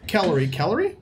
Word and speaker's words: Calorie: Okay, so does Calorie Rhymes with celery.